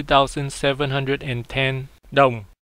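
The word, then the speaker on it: đồng: dollar is worth twenty two thousand seven hundred and ten down not dong in Vietnamese it is pronounced down down the name of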